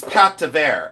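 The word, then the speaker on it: pâte: You can call it Pat. Uh you can call it Pat, but whatever you want to call it, it's fabulous, you know. And people say, "What is Pat?"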